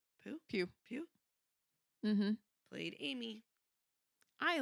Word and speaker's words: Pugh: Pew.